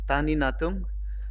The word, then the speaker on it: Tanie Natung: uh trifocal iuls uh my name is pronounce as Dr Tani Tani natum and uh I from